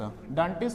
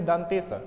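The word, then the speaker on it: दंतीस: दंटिस क्यों कहते हैं, हम लोग ऐसे दंटिस कहते हैं, लेकिन इसको बोलना चाहिए दंतिस, क्योंकि इसका उच्चारण स्थान कहाँ है, दंत है।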